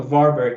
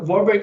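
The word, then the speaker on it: Warburg: little bit more slowly or or or or spell it or something because I missed that completely yeah sure so it's called a warberg effect warberg yes so so like the the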